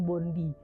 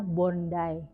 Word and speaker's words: Bondi: Dan itu dibacanya bondai bukan bondi ya.